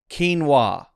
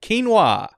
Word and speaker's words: quinoa: direction thank you Google quinoa hit that k sound hey I did it quinoa quinoa so there you